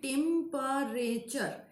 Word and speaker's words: temperature: Nishita, trisyllabic, temperature. No, Nishita, temperature is actually tetrasyllabic. 4 syllable. Temperature. There are 4 syllable. This is not trisyllabic, this is tetrasyllabic.